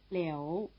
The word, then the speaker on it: Liu: Hou, You, Liu. Here you'd expect L-I-O-U, since the sound O is spelled O-U, but in fact there's no O.